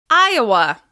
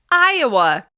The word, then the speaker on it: Iowa: Iowa, Iowa. We stress Iowa on the first syllable. Iowa, Iowa, Iowa.